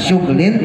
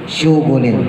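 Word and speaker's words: شُغُل: Imam hafaz makainya fiulin Jadi bukan suglin tapi suugulin tapi ada riwayat lain yang mengatakan bacanya suglin wahuma Adapun lafaz sugl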